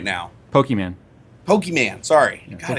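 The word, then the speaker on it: Pokémon: Pokemon. Sorry. God, I keep mispronouncing. It's Pokemon. So, guys, people pronouncing it Pokemon.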